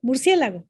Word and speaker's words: murciélago: La esdrújula, al contrario, resta una sílaba al conteo. Por ejemplo, murciélago, ¿no? Murciélago. Son 4 sílabas, pero parecería que son 3, murciélago.